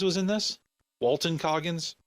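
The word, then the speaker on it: Walton Goggins: am I mad that Walter Coggins was in this Walton cogins I'm GNA say his name right eventually I've noticed I've been saying it wrong lately no I'm not mad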